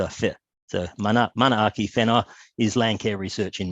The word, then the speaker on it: Manaaki Whenua: WH in Maori is pronounced with an F. So it's Manaaki Whenua research. So just when you see WH in New Zealand or in Maori, it's fit. So Manaaki Whenua is land care research in Maori.